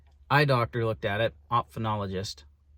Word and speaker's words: ophthalmologist: Eye doctor looked at it, ophthalmologist, that's how you say it.